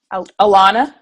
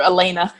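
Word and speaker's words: Elana: And then your pilot in your bobsled, I don't want to butcher it. Alana. I was like, I know I'm going to say it wrong. Yeah, everybody calls her Elena. I know, and I was about to do that, and I knew that was wrong.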